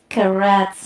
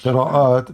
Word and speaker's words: qira'at: What does karats mean exactly? What is Yeah, what? I'm not pronouncing well, but it's karat. It says that these are the Quran, the like You mean the variations qira'at.